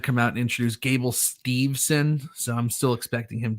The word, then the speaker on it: Steveson: out and introduce gable steveson so i'm still expecting him to be in the bobby ladies is it steve sinner stevens steveson there's no n there's no end okay yeah i thought